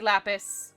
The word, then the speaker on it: Lapis: However, to be perfectly honest, you can pronounce it Lapis or Lapis. It does not matter, at all. Don't really worry about it. Both are correct. I say Lapis.